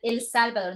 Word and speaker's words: El Salvador: El Salvador. No El Salvador. Con el acento en la última, no en la primera.